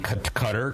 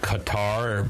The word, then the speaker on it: Qatar: and their two children visiting cutter called Qatar by people who don't know how to pronounce it as a Best Buddies